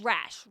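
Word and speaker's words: Rasch: Rash. Yeah. R A S C H. I haven't actually heard it pronounced out loud, but yes.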